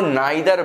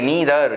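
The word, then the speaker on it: neither: नीदर जो है American accent है, नीदर अमेरिकन प्रोनाउंसिएशन है नीदर, ब्रिटिश प्रोनाउंसिएशन है नाइदर। हम लोग ब्रिटिश इंग्लिश को फॉलो करते हैं, सो we call it नाइदर, ठीक है। बट इफ you want then you can call it नीदर also.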